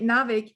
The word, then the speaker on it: NAWIC: Yeah, and sometimes with abbreviations, my pronunciation is a bit off. Is it NAWIC or NAWIC? So with NAWIC.